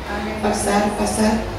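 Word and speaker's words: Farfar: es el nombre, que se escribe PH, se pronuncia F, Farsar, más Obana, que son los mejores ríos de Damasco, y este me va a sumergir en el río Jordán.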